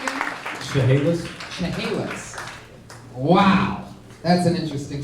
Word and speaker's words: Chehalis: It's spelled Chaliss, so I said Chalice. Yeah. And it is It's Chehalis. Chehalis, but yeah, it's red. Which, by the way, No, it's definitely Chehalis.